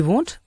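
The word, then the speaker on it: won't: நான் அவனை நம்பவே மாட்டேன் இந்த வோன்ட் அப்படிங்கறத வோன் அப்படின்னு உச்சரிங்க சரிங்களா சரி எனக்கு இருட்டுனா பயம்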